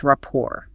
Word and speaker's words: rapport: We could say they have a strong rapport. The video notes the silent t rapport.